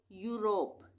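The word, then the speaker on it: Europe: आ रहा है और इसको हम क्या पढ़ेंगे यूरोप यूरोप कंट्री का नाम है ना यूरोप अब है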